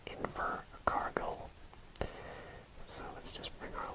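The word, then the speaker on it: Invercargill: this area here we have a place called inver cargill so let's just bring our lionite and we spell that i n v e r c e r g-i-l-l and that is invert cargo so now we are at the island part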